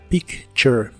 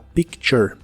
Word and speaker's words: picture: que significan una foto la t de la palabra picture suena como el sonido que hace la ch a picture a picture y usaremos la palabra